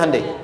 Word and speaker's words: Hyundai: bikin Honda sini Handai hyundaikan dibacanya Handai sana apapun yang dibuat